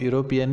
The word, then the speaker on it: European: Here the pronunciation of European is European. Though it has started with E, vowel, its pronunciation is European.